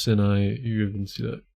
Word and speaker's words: Sinai: And actually, it is pronounced Sinai.